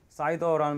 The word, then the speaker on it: CIDR: 하고 넘어가고 싶은데 그 사이더라는 말하고 애그리게이션 얘기를 조금만 하고 갈게요. CIDR인데 지난번에 한 얘기랑 좀 연관이 있습니다. 이게 발음이 사이더로 그냥 읽어요. 사이더.